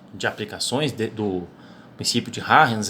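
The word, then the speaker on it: Huygens: aqui, chamado princípio de Arens. Eu até tive que procurar qual era essa pronúncia, porque o sobrenome é holandês, então, ao que eu concluí, a pronúncia é essa mesmo, princípio de Arens.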